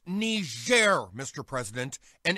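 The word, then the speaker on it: Niger: mad about that thing it's pronounced ner Mr President and it's a country in Africa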